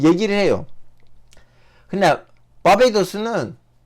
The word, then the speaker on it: 바베이도스: 바르바도스. 한국말로 뭐지? 한국말로 발음을 보자.